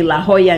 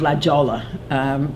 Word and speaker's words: La Jolla: And if she, I guess, is speaking about a place in California, she will say La Jolla instead of La Jolla, or use the appropriate Spanish pronunciations.